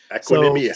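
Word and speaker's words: Equanimeous: Equanimous.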